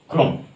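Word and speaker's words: chrome: এর মত হবে তাহলে সি এইচ এর পরে আর থাকলে সি এইচ এর উচ্চারণ ক এর মতন হবে এখানে কি সি এইচ আর ও এম ই ক্রম এর আগের আমরা একটা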